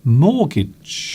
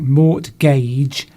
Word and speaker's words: mortgage: Nisa wants to know how we pronounce the word. It's mortgage. Mortgage. It looks like mortgage, but it's actually pronounced mortgage.